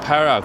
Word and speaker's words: Perak: Tôi biết Perak , nhưng tôi không biết cách phát âm nó trong tiếng Anh. Nó chỉ là Perak thôi.